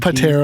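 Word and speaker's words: Pteramander: that's when you like I think you pronounced the Pander Pander we're pagm we pronounce the p that's the one that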